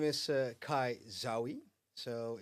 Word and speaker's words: Zaoui: Um, yeah, my name is Kai Zawi. So, it's pronounced not Zoey, but.